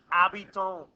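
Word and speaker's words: habitant: an H the ab say it like your French AB okay the abiton so the hiton what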